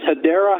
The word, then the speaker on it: Hedera: The name of it's called Hedera Hashgraph, or some people pronounce it Hedera, but it's Hedera Hashgraph, and it is blockchain 4-dimensionally.